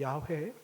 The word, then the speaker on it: 야훼: 여호와, 이 여호와의 좀 더 정확한 발음은 야훼입니다. 야훼.